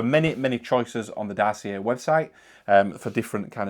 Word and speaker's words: Dossier: Okay, so first of all, I'm not sure if I'm saying it exactly right with my uh strange northern accent, but Darcier, Darcier, I think is how you say it, but it's spelled D O S S I E R.